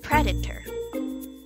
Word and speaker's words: predator: the right way well it should be pronounced as predator again predator okay Waldheim so the stress should be on the first syllable okay now let's try